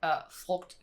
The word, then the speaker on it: frugt: When you say it out loud, like frugt, because you have the U that's usually pronounced oo. Oh, yes. Then it's like an O sound instead. So yes. Frugt. And in a lot of Danish words, we don't pronounce the G. Like we have a lot of silent Gs, but here, for some reason, it's not. It's not silent.